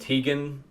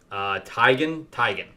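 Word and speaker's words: Taigen: So I think that Akemi, so she ends up fighting this other guy named Tegan. I always get his name wrong. Tigan. But I always call him Tegan, but it's Tigan.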